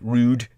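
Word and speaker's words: Roud: now steve raud uh the founder of the round r o u d r o u d rude uh the rude folk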